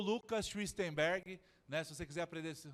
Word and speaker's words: Schwichtemberg: Eu sou o Lucas Schwistenberg, né, se você quiser aprender como pronuncia, está escrito ali, Schwistenberg.